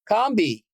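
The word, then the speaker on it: Combahee: Pulitzer Prize-winning author of, and make sure I'm pronouncing this right, Combé? Combee.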